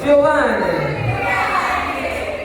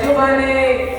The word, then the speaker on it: Giovanni: It's pronounced Giovanni. That's right, say it with me, y'all. Giovanni.